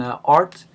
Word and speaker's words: RT: You will notice that I most of the time pronounce the name of the computer program art instead of RT, just like we try